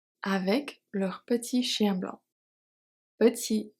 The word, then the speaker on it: petit: leur petit chien blanc petit t is silent and blanc is silent